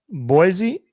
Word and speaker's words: Boise: I think you're not supposed to pronounce it with a Z. I think it's supposed to be with an S.